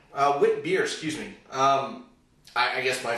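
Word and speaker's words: Witbier: Mother Ship Wit is a new Belgian beer, and it's part of a type of beer called Wit beer. Wit beer, excuse me.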